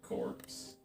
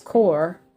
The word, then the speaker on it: Corps: It's a vent 926 vario favit is the marine United States Marine Corpse. Yeah, that's core.